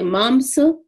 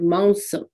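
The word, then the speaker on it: मांस: The anuswar is something that's really differently pronounced. Anuswar is the nasal N sound. So some people will say mamsa with the hard M. Some people will say maunsa. So from Maharashtra, where my family comes from, I grew up with the word maunsa. Maunsa. The M is barely pronounced.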